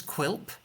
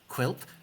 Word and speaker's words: Quilp: My name's Quilp. Quilp. That's spelt with a Q, a U, an I, an L, and a P.